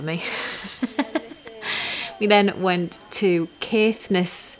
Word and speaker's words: Caithness: we then went to caithness Yarns or Keith Ness he said it can be carefulness or caithness he didn't care which way he pronounced it um and that was